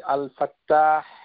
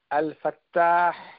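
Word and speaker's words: الفتاح: কেননা আল ফা তা মুশাদ্দাদ ফাতহা আলিফ হা আল ফাত্তাহ তো এই নামটুকু কোরআনুল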